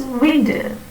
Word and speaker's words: window: We say window, window, window, right? V. But an Englishman would only pronounce it as window, not as window. Throughout India, we have this tendency to replace w with v.